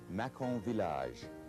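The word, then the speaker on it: Mâcon-Villages: From the same area, we have Macon Village, Macon Village.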